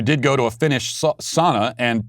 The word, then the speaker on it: sauna: is a finnish word in the finnish language each letter is enunciated so it is pronounced sauna if you did go to a finnish sauna and pronounced it that